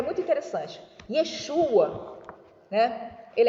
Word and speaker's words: Yeshu: Em aramaico, a grafia também é a mesma, mas no aramaico, a letra Ain não se pronuncia no final da palavra.